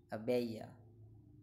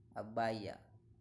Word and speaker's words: abaya: pronunciation of this word in British English is a Bella Bella Bella Bella Bella and in American English is a byah byah byah byah byah notice the difference a Bella Abhaya abeja abaya a failure Abhaya thank